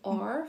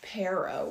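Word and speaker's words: perro: And I thought the word dog was Ferror, Pharaoh. And I guess it's Pero with a P.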